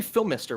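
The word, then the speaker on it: Phimister: okay interesting so le Phil mister which I don't do they do they say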